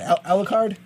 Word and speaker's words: Alucard: Alcorn from Helsing's and ultimate Helsing which I pronounce a lieu card there's no you in there I loo card Alucard yes it's Dracula spelled backwards we know that